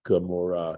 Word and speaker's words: Gomorrah: way in English, and it's pronounced Gomorrah because it sounds so much like that guttural Amorah.